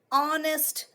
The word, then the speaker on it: honest: do we say no H is silent here okay we do not pronounce it it is just there